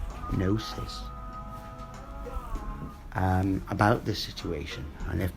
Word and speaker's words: gnosis: It's just knowingness, gnosis, spelled with a G, gnosis, about this situation.